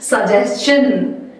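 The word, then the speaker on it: suggestion: Actually किसी भी word में अगर एन में एस टी आई ओ N spelling में आ जाए तो आप मुझे उसे क्या प्रोनाउंस करते हैं? आप प्रोनाउंस करते हैं लाइक क्वेश्चन। सजेशन इस तरीके से।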